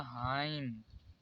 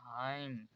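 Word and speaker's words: hymn: इसे पढ़ा जाएगा हाइम। यहाँ पर MN साथ में इसलिए यहाँ पर N कॉमन है, इसे इसलिए पढ़ा जाएगा हाइम।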